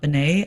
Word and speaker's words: Bennett: one is joan bennett i think that's probably pronounced bennett and not bene i have never heard